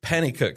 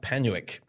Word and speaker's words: Penicuik: last week's show but it's Penicuik and District, not Penicuik. I think that's how I pronounced it last time.